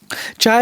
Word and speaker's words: chai: how he says it I feel wrong in this household saying chai chai chai is how you say it in Hindi chai is how you say it in Gujarati so it's fine either way yeah but just don't